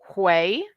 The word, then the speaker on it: Deigh: Um, another one that's weird is Deigh, which is pronounced Hui.